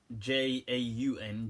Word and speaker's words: Jaun: He spelled his name not John, but J-A-U-N, Jaun, like that. But I think it may be equivalent to the English John, because I'm assuming he came from a Christian kind of background.